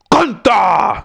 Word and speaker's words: Gunther: And Gunther grabs the mic and says, "That ain't how you say it. It's Gunther."